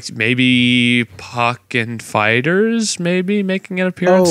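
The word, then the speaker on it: Pokkén: No, it's Pokken. It's actually Pokemon, but Pokken Fighters. Pokken. Pokken. Leave us a comment. How do you pronounce it? Yeah, I say Pokken.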